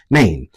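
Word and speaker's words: Nain: So, this looks like rain, and I'm going to say it like rain because it looks like rain without without the R. It has an N instead. So, it's Maine. Um, Jesus went to a town called Maine and his disciples and and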